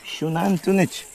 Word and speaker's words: Xunantunich: How How do you pronounce this again? Shunan tunich.